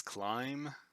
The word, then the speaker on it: climb: because of the music you don't pronounce the b and climb it's climb you can but you